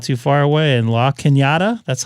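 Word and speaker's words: La Cañada: Chino Hills is not too far away and La Kinyatta, that's how you pronounce that correctly, is up against the foothills um off the 210 up here in Southern California.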